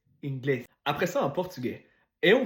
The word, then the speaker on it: inglés: Fait que si tu vois ce que l'accent, c'est là qu'il faut que tu fasses l'intonation. Deuxième syllabe. Francés, inglés.